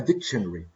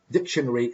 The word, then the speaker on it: dictionary: like to say that this word in particular dictionary has three different pronunciations the first one is dictionary the second is dictionary the third is dictionary so dictionary dictionary and dictionary what is a dictionary